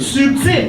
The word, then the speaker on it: subtil: Subtil has a B. We pronounce it. Subtil.